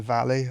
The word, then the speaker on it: Valle: Margarita Della Valle, I think she's is how you pronounce it. Yeah, probably not because it's not Spanish. It'd be Valle if it was Spanish.